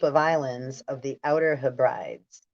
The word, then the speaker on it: Hebrides: islands of the Outer Hebrides. Hebrides. It's spelled like he brides.